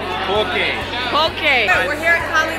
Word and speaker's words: poke: How do you pronounce P-O-K-E? Poke.